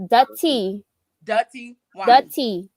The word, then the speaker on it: Dutty Wine: D-U-T-T-Y-W-I-N-E. It's pronounced dutty.